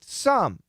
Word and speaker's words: some: And also the same with some. Now, typically, especially the word some, is going to have more of a schwa pronunciation.